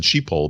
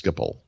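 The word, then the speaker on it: Schiphol: Skipple? Skipple. Yep. Yeah. Yes. Skipple. I think they call it Skipple. I think I always said sheeple, but I think it's Skipple.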